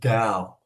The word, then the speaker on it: Tao: Well, according to Lao Tzu, we're in a thing called the Tao. And it's spelled T-A-O, not D-O-W, like the Dow Jones.